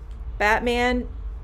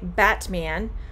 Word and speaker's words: Batman: so okay when um when i say batman the t i'm moving right past the t and going to the m now you can say batman but when you are